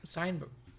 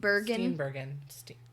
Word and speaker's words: Steenburgen: Mary Steenburgen, that's her name. Bergen? Wait, can I look at it? Steinberg. It's Steen. It's a double E. Oh, yeah. Mary Steenburgen. Bergen? Steenburgen.